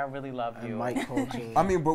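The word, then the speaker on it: Colter: Mike Coulter.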